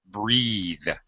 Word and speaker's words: breathe: two things happen um we change the vowel sound and we also change the th to a voice th so breath breathe teeth teas uh a baby teas